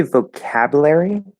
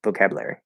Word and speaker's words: vocabulary: If you say vocabulary, in this particular word, I think that sounds okay, but like if you're speaking really quickly, like vocabulary, like you can kind of eat that middle syllable, and it's okay.